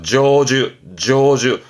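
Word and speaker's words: 成就: 발음이 어려워요. 조주. 요거는 발음 때문에 N1쯤에서 많이 언급됩니다만은 다 슈슈 하다가 요 성취만 발음이 조주가 되니까 챙겨둘 만한 부분이 있습니다.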